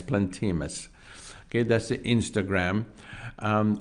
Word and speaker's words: Plantemus: that is called plantemus it is spelled plant like a plant p-l-a-n-t e m u s plant plant emus plantimus okay that's the Instagram